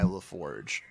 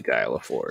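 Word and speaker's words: Laforgue: i said it wrong it's very french so it's not guy laforge it's it's basically guy leforce yeah but is it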